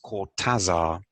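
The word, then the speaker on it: Cortázar: of the argentine writer julio cortasa whose name pronounced in english is cortazar who again has these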